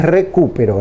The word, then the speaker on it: Recupero: ¿Recupero? No, es Recupero. Lo que pasa es que tendría que tener acento, pero yo, como todos